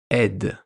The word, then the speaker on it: aide: Ou on le retrouve aussi dans le mot une aide. Une aide. Aide. A-I-D-E. Est, de. Aide. On retrouve le son est.